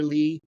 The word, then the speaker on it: Ley: So just if you search for Lee, just make sure you spell Lee wrong. You have to spell it Ley.